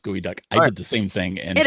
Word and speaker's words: geoduck: spelled geoduck but it's apparently the word is pronounced gooey duck heard the same thing it is they're delicious